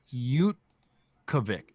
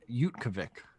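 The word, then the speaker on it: Utqiagvik: this place is like apparently it's pronounced you kavik utkovic yukabik all right it's not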